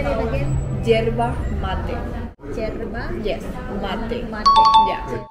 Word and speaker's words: yerba mate: Yerba mate.